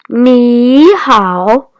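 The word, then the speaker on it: 你好: A fun way to remember ni hao could be ni, like on your leg, plus how, like how are you doing?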